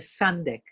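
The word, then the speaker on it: sandek: term for it it's called the sundeck the sundeck s-a-n-d-e-k and it's it's really a very great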